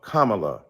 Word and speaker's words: Kamala: do you call Ivanka Ivanka then call Kamala Kamala then call vice president Harris vice president Kamala